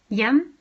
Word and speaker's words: hjem: But it will be silent if immediately followed by either je or the. hjem, hvor, hva.